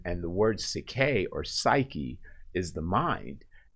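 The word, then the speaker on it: ψυχή: actually in greek uh it is psyche or cicay is how it's pronounced but psyche is literally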